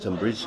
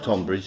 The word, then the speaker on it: Tonbridge: is pronounced tumbridge yes it is pronounced tumbridge not tonbridge they don't like it it's tumbridge but it's not to be confused with tumbridge Wells which is a few miles further south absolutely they're still T